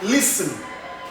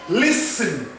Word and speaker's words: listen: It's like listen, listen, listen. Not even listen, it is listen.